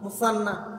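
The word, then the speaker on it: مثنى: 7 number মুসান্না হো এটা আমরা অনেক মুসান্না সিন দিয়ে বলি এটা সা দিয়ে উচ্চারণ মুসান্না তাহলে মুসান্না হো মানে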